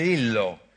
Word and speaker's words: Lhyrhlo: Lillo la storia di Lillo Come'è scritto scusa hai scritto l h Y r h l o 13 e si pronuncia Lillo Ah come me come il